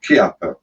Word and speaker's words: Chiappa: CO2 this time uh Kappa the way it's spelled it looks like Chiappa but as I understand it it's pronounced Kappa the an arms manufacturer